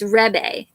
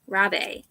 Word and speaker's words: rabe: Rabi, is that how you pronounce it? Rebe? Oh, never mind. It's Rebe. Rabe.